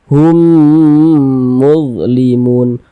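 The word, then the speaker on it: هُمْ مُظْلِمُونَ: bingung pula nih ini ini mim sukun ini huruf mim juga kok bacanya humnya cuman sekali kan hurufnya ada dua begitu karena kan ini ya idgham jadi membacanya itu ya dia masuk melebur ke huruf yang ini begitu Hum mudlimun begitu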